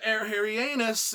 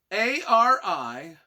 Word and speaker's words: Arianus: When you think about it, I don't think I'm pronouncing that right. A-R-I-A-N-U-S. Arianus. Arianus, yeah. It's right there. It's right there. I think that's the way it's done.